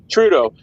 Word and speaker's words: Trudeau: How do you pronounce it? Trudeau.